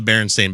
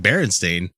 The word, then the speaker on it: Berenstain: So how do you guys spell the Berenstain Bears?